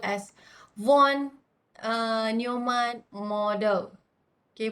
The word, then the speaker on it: von Neumann: the first version's name which is called as one newman model okay pronunciation is one no man so you can try to look into how